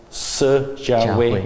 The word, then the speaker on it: Si Jiahui: So how do you pronounce? Si Jiahui. Si Jiahui. Yeah, very good.